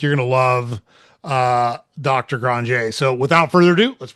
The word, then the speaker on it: Granger: Benjamin Granger. It looks like Granger, but he is Cajun and from Louisiana, and it's pronounced Granger.